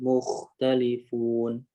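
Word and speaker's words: مختلفون: Alladzi hum fihi mukhtalifun. Di kho-nya lebih kuatin lagi. Mukhtalifun.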